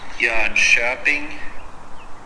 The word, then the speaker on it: Jönköping: How the hell do I pronounce Jönköping? Jeunshopping. That makes no sense. Jeunshopping, it doesn't say shopping. That makes grammatically no sense to pronounce it Jeunshopping.